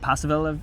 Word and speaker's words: Paceville: We were up uh we were up around Paceville or Pacil as I've heard a couple of the locals pronounce it. I'm not sure whether that's just a local thing or not, but it was uh it was interesting.